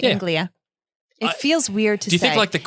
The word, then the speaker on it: Anglia: yeah yeah oh i was saying it right anglia it feels weird to do do you think